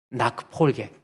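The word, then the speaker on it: Nachfolge: 이 나크폴게, 한번 따라할까요? 나크폴게. 이 이 CH, 영어로 독일말로 체하예요. 체하가 앞에가 A가 있으면 흐 발음으로 해야 돼.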